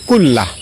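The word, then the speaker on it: كُلَّهُ: আল্লাহুম্মা গফিরলি যামবি কুল্লাহ। আমি আবারও বলছি, আল্লাহুম্মা গফিরলি যামবি কুল্লাহ। লাস্টে হা উচ্চারণ, কুল্লাহ অথবা কুল্লাহু এভাবে পড়বেন। আল্লাহুম্মা গফিরলি যামবি কুল্লাহ অথবা আল্লাহুম্মা গফিরলি যামবি কুল্লাহু।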